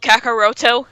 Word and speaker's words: Kakarot: Wasn't Goku's name Kakarot called Kakaroto? Yeah, but that's the Japanese pronunciation.